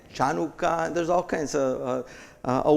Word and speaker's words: Chanukah: And it was translated, here we have Strong's number, and it is pronounced Chanukah, Chanukah.